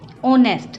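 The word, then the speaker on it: honest: एक पैन सिब्बल ने ऑनेस्ट अब यहां पर भी ऑनेस्ट जो एक है वह साइलेंट है इन सब मिर्च तो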